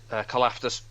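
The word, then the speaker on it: Karlaftis: Kalafdis.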